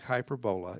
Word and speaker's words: hyperbola: name it looks like hyper bola it's pronounced hyperbola it looks like hyperbola it's pronounced hyperbola like this is not pronounced parabola its parabola and that's hyperbola it's like hyperbole in English extreme exaggeration same idea